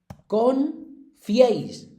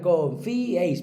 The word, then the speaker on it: confiéis: Confiéis. Que la mayoría diría confiéis. Pues no, confiéis. ¿Vale? Se divide así en sílabas, porque al ser triptongo tienen que ir las tres en la misma sílaba.